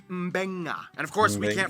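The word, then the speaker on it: Beqa: Both Q and G make the ng sound. Therefore, the town of Nadi is actually pronounced Nandi. And this word is pronounced Mbenga.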